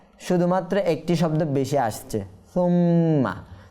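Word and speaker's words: ثُمَّ: তো এখানে নিয়ম হচ্ছে সা আমরা হালকা করে উচ্চারণ করব, আর মিমের মধ্যে গুন্না করব। নুনে মুসাদ্দাত মিমে মুসাদ্দাত সব সময় গুন্না করে পড়তে হয়, এই জন্য এখানে আমরা সুম্মা এভাবে গুন্না করব।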